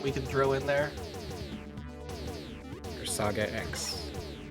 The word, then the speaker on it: Persagax: Persagax. I pronounce it very German if you want. Yeah, how would that sound? Persagax.